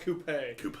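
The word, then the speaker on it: coupé: wheels into my sedan by the way is pronounced kupe okay no that's all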